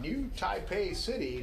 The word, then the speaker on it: New Taipei City: New Taipei City, not New City, Taipei.